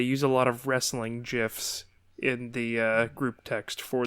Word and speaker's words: GIF: The creator of the format pronounces it with a hard G, or is that a soft G? However you call it, but J, like giraffe.